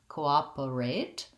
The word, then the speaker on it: cooperate: is easier for you a rate or errate both are okay cooperate i think i tend to say er cooperate um and then we have our a t e the silent e at the end makes the a say its name that's actually a spelling